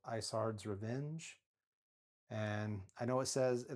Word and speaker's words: Isard: And I know it looks like it says Izard's, but I read something where he said he wanted it to sound like Ice Heart, so he named her Isard. So that's how it's supposedly pronounced.